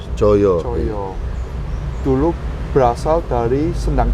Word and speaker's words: Coyo: Jadi Coyo itu dulu ejanya TJ. TJ TJO YO. YO, Coyo.